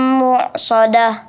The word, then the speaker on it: mu'sadah: Innaha alaihim mu'sadah. Ya, jangan lupa nun yang ada tasdidnya dilamakan lagi. Innaha alaihim mu'sadah. Innaha alaihim mu'sadah. Mu'sadah, bukan mu', tapi mu'sadah, hamzahnya yang dijelaskan.